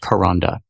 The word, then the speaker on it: Kronda: This is a blog post by Karonda Adair. That's spelled Kronda. It's pronounced Karonda.